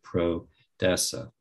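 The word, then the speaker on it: prodesse: of proud which is a latin term and it's spelled p-r-o-d-e-s-s-e pro-dessa pro-means for an essa means to be but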